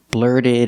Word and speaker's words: blurted: out link The Sounds blurted it out blurted it out the T and blurted is a fast D the D at the